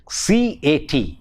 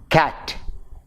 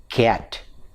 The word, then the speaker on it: cat: So, Malayali speakers of English tend to pronounce, say for example, in a word like C-A-T, it is cat, but there is a tendency of mispronouncing the word as cat, which is wrong. It should be cat.